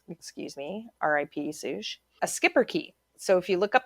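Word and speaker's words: schipperke: me r.i.p sush a skipper key so if you look up the skipper key and it's spelt really weird it's s-c-h-i-p-p-e-r-k-e but pronounced skipper key it's this tiny little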